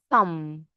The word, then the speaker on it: thumb: Leg, leg, hand, hand, fingers, fingers, thumb, thumb. Pay attention. B here is silent.